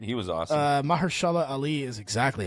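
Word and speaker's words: Mahershala Ali: Although u Maher Mahersala Ali I think is how you say it. He was awesome. Uh, Maharshala Ali is exactly how you say it.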